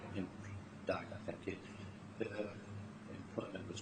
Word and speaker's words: Dagher: Dagher's, if I pronounce it correctly, in Dagher, thank you, her employment was terminated, I think, in early 2011.